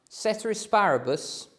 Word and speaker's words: ceteris paribus: you compare basically um cetera asparabus is how you say ceteris paribus maybe um with all the